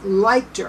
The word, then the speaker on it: Lichter: was written by linda uh leichter i think that's how you pronounce her name it's l-i-c-h-t-e-r i read